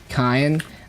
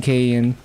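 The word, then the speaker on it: Kain: Ken, I'm just using the Korean pronunciation instead of saying Kayen.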